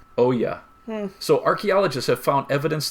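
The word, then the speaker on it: olla: your garden archaeologist so you're going to say a word like OAS and you're not going to spell it o l l a Oya so archaeologists have found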